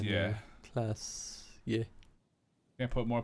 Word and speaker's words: Oranje: It's pronounced Oranje.